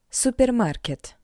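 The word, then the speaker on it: супермаркет: Therefore, to pronounce this word in Russian, you just need to read the English version with the Russian accent. Supermarket. Superarket. Supermarket. How you can understand? It's all about the sound R. R in English R in Russian R.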